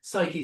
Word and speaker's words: Psyche: and this is, uh, Psyche spelled with a P, like psychology.